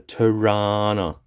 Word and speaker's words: Torana: And the body of course is a popular Australian car, a Tana. You got to say it like that or else no one will know what you mean.